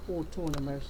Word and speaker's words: autonomous: AU is pronounced O, autonomous.